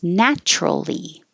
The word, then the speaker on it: naturally: stylish vague Vogue natural it looks like it could be natural but we make it shorter drop the middle syllable and make it natural make sure you have